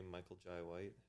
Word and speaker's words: Michael Jai White: Have you ever seen a Michael Jai White? That's how you pronounce his name.